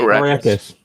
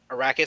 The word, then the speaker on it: Arrakis: Arrakis. Arrakis.